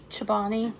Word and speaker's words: Chobani: Chobani.